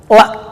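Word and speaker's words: لا: La itu dalam bahasa Arab yang bacanya panjang ya, 2 harakat matabi, la.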